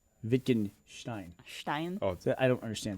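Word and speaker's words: Wittgenstein: Someone's correcting me on my pronunciation of Vickenstein. They said it's pronounced Victinstein.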